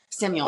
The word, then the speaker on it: Samuel: Samuel is how you say it properly.